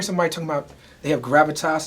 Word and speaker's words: Gravitas: How do you pronounce it? Gravitas?